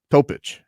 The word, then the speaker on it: Topić: Oh, so his name is spelled Topic. His name is spelled Topic, but it's got the little thing on the C. Yeah. Was that mean Topić? Topić, yeah. Wonder what do they call that C?